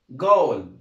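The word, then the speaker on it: ghoul: طيب اللي بعدها جي اتش او يو ال، حرف ال H هنا برضه سايلنت ما بيتنطقش، هنطق الجي زي ايه؟ الجي هيتنطق جيم. زي كلمة ها الكلمة اللي قدامنا ديت، نحاول كده نقراها مع بعض بس من غير ما ننطق حرف الايه؟ ال H. يبقى اسمها جول.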